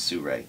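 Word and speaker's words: Sirui: last name is called Sur it's spelled s i r UI but some reason they say it's Sur okay and they make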